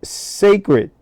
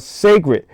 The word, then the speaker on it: Cecred: pronounce it, but it's spelled c e c r e d. And, I think it's pronounced Cecred. I'm just guessing, right? You know, black people like to be different and So, I think it's called Sacred.